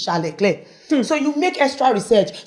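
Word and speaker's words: Charles Leclerc: They call him Charles Leair and his name is Charle Clair.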